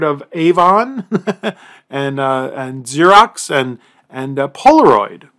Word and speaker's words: Polaroid: You might have heard of Avon and Xerox and Polaroid. Polaroid. The name still lives on, but the company's been gone for decades. I wouldn't want to invest in a company whose name rhymes with hemorrhoid.